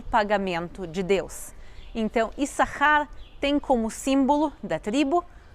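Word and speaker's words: Issacar: Leia que se chama is sasar ou como a gente pronuncia o nome dele hoje em dia mas no hebraico bíblico a pronúncia correta é isar sahar quer dizer pagamento ou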